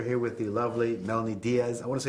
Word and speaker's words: Melonie Diaz: We are here with the lovely Melonie Diaz. I want to say it right, Diaz, right?